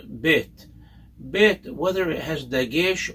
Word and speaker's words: Bet: no dot in it, that second letter, Bet, is pronounced as a B sound. It's never pronounced as a V, as nowadays it's become